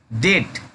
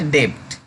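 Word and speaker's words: debt: डेट नॉट डेप्ट, डेप्ट नहीं पढ़ेंगे, इसे डेट पढ़ेंगे।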